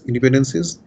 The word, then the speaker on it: independencies: There I define conditional independencies, and before that your random variables independencies. By the way, the term independencies is fine. That's how the community pronounces it.